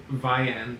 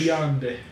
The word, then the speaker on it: Viande: The first song is Viande, I think is how you say it. They're a French. Viande.